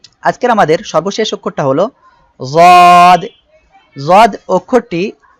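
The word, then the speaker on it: ضاد: জিহ্বার গোড়ার কিনারা উপরের মাড়ির দাঁতের সঙ্গে লাগিয়ে যদ উচ্চারিত হয়।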